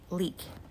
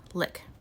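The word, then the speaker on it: lík: is called the leak pronounced leak l e e k angelized is lick we habitually think of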